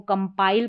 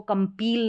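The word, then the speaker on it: compile: इसको कंपाइल पढ़ेंगे, इसको कंपील नहीं पढ़ेंगे।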